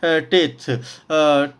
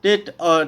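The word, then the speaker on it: ט: letter है वो है थ टेट टेट भी बोलते हैं थ भी बोलते हैं अलग-अलग प्रोनाउंस हैना लोग करते हैं तो प्रोनाउंस पर ना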